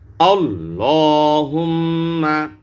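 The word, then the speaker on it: اللهم: তাহলে কোন সমস্যা নাই আল্লাহুম্মা লাম মোটা করবেন হুম্মার মধ্যে ওয়াজিব গুন্না হরকতের বামে নুনে বা মিমে তাসদিদ হলে ওয়াজিব গুন্না করিয়া পড়িতে হয় আল্লাহুম্মা আচ্ছা আচ্ছা এখানে এই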